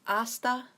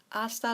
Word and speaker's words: hasta: So this is hasta, so the H is silent, luego, luego, hasta luego.